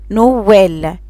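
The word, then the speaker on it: Noël: طبعا عندنا اكزامبل كلمة نوال يعني بابا نوال، هنا عملت سيبغاسيو فصل بين الدو لتر بين الحرفين المتحركين.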